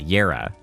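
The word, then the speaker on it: Jera: Oh, the J is pronounced like a Y. Yera dupes all pickups and consumables in the room.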